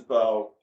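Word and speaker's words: Beaux: it's all about you Bo it is I know so spelled b Au X by the way oh that's very good a lot of silent letters my son named it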